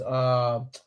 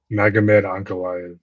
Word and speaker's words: Magomed Ankalaev: Won it back against Magamode. Is that how I pronouncing his name? Magomed Ankalaev.